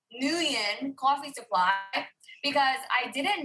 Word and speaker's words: Nguyen: I try, but because the NG is like you got to get it like the, and then it's like sing, right? Like the best way it was explained to me is think of sing, but take the sound at the end and put it at the beginning.